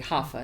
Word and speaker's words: Rafa: You just gotta say it correctly. Hafa, not Yeah. Rafa, Rafaela.